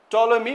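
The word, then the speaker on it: Ptolemy: ये जो पी है ना ये पी ये पी साइलेंट है। तो इसका प्रोनाउंस करते वक्त टॉलमी बोलते हैं हमको।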